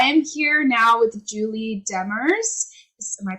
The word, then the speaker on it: Demers: before and I am here now with Julie Demers this is my pronouncing name right yes okay and they are